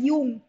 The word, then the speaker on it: Jung: Also please pronounce this word as यूंग। Okay, of course spelling इसकी JUNG है, पर जे इसमें साइलेंट है।